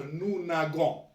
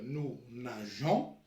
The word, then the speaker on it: nageons: نقراوه نو ناغون. جي يتقرا مع الاو يتقرا غو. دونك نو ناغون. باش pour prononcer le verbe nous nageons, donc on doit ajouter un e هنايا. دونك هذه اشفاو عليها. جي مع الاو تقرا جو. كي نحبوا نطقوه جو نزيدوا له او.